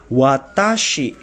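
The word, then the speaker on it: 私: Watashi ini dibacanya watashi ini adalah kanji ya. Kalau ditulis secara hiragana ditulisnya watashi, huruf wa dulu, lalu ta dan shi.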